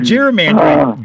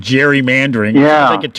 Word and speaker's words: gerrymandering: Folks might be interested in where that came from, gerrymandering. It came from a governor of Massachusetts by the name of Governor Gary. Actually, it was a hard G, but we've changed it to a soft G.